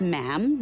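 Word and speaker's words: ma'am: her majesty um and after that it's just mam rhymes with jam and it's always a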